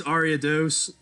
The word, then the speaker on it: Ariados: all right all right it's arya dose um there's the announcer mispronouncing the name again dragonite do not have anything that can avoid the poison so ariados might actually be a